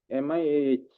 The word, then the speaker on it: Miah: Mia is spelled as Lordship, MIAH. Mia.